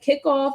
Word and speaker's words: Kikoff: Like Kickoff is the app that I use. It's spelled Kikoff.